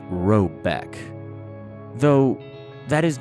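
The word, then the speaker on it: Råbäck: The manor house, or herrgård, in question is to be called Robok, pronounced something like Robeck, though that is not its name.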